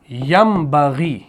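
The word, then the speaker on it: يَنْبَغِي: जब ये यन बगी है यानी नून साकिन के बाद बा आ गया तो इसको पढ़ा जाएगा ऐसे। यमबगी ऐसे पढ़ा जाएगा यमबगी यानी हमने यहां पर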